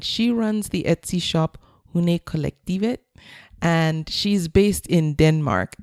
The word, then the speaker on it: Hundekollektivet: My guest this week is Lone, and she runs the Etsy shop Hundekollektivet, and she's based in Denmark.